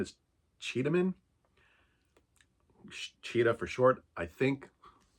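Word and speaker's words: Çeda: The main character is a woman named her name is spelled C-E-D-A. Is it how it's spelled? Yeah, C-E-D-A. But there's a little like doohickey under the letter C, which is actually pronounced C-H.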